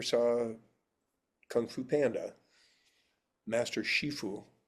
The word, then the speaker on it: Shifu: Um and it's so if you ever saw kung fu panda master shifue. So that's the Mandarin pronunciation of the same term.